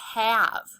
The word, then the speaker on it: have: This is the word have. There's a heart under the A and the E because the A says and the E is silent. It does not follow our silent E rule.